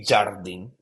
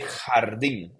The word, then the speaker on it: jardín: guys forget is that the J, it's pronounced like a H, like an H in English, right? You don't say jardín, you say jardín.